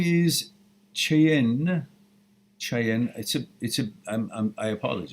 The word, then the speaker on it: Cheyenne: I says, my name is Cheyenne. I apologize. It's a beautiful name. I just want to know how to pronounce it.